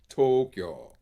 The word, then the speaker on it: Tokyo: will say, for example, they'll pronounce the Japanese capital with three syllables. It only has two, Tokyo, and it's a long. The to is long, Tokyo. The kyo is shorter than the o in Tokyo.